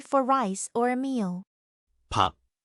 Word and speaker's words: 밥: 밥, Initial B, vowel A, and a final at the bottom.